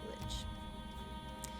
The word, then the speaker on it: Lich: Lich yeah Lich King that's how you say it Lich yet as he gazes